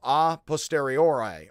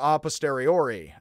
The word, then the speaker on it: a posteriori: And that which is known after and through all experience, Kant labeled a posteriori or a posteriori, again, depending on how you pronounce your brands of pasta.